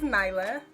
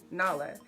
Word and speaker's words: Nyla: My name is Nyla, but growing up, people would always mispronounce it as Nala.